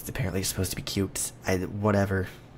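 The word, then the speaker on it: Qt: I know I've like learned about the proper pronunciation I still want to say cutie because that just sounds better but it's dependently supposed to be cute whatever its cutie I'm not I'm not calling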